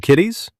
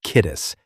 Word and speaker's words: Kittis: Mr. Kitties. Um, no. No guys, it's kittis. The last syllable rhymes with kiss.